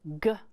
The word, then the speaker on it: glass: Will this be g-l-ass or j-l-ass? What is your G followed by? A consonant. So when G is followed by a consonant, is it hard G or soft G? Yep, right again. When it's followed by a consonant, it says g, glass.